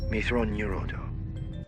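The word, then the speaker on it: Mitth'raw'nuruodo: methodology yeah mithra neurodome it's pronounced methron neurodome mythron neurodough mythranium fine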